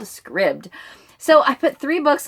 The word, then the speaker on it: Scribd: a video of the founder and CEO of Scribd and he pronounces it Scribd I was wondering because I've